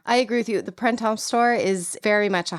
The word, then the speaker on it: Printemps: doing good though, because the one thing I do know is you do not really pronounce the P or the S. Good, so okay. like you don't say it like, it's not Printemps.